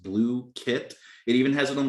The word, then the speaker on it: Blooket: First of all, Blooket, pronounced Blue Kit.